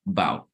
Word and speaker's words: about: So instead of saying about, right, we say wow, wow, right? And many people, I'm sorry. Yeah, many people even don't even pronounce the A. So they only say the last thing. So they say bow, Okay, so pay attention